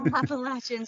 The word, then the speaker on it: Appalachians: it makes a lot of sense that the appalachians how do you say it again you got it appalachians are full of them i had heard that